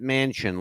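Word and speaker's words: Manchin: is Senator Joe Mansion m n Chu n pronounces it Mansion like the big building the Mansion all right Joe Mansion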